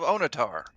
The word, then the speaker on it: Onatar: is a temple of onitar that name rhymes with guitar he must be the